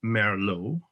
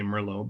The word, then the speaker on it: Merlot: out but they figured out and the name merlot we say merlot but it's properly pronounced merlot comes from its resemblance to the